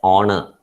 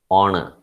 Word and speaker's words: honor: silent h is silent so it is pronounced as honor honor it was an honor